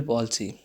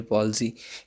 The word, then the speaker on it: palsy: Again disorder है, neurological disorders के under आता है सेरेब्रल पॉल्सी। इसकी प्रोनाउंसिएशन ठीक रखनी है, कुछ लोग पाल्सी कहते हैं, कुछ पैल्सी कहते हैं। This is basically cerebral पॉल्सी।